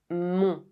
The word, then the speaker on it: mon: For example, mon. It ends with a silent N.